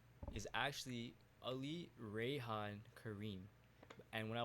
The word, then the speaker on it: Ali: And not even not even the the actual way of pronouncing the name, which again, it's an Arabic name. So, it's if again for anybody that knows the Arabic alphabet or Arabic language, the name is Ali.